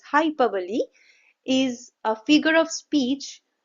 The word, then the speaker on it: hyperbole: We don't pronounce it at hyperbole. We rather say it as hyperbole.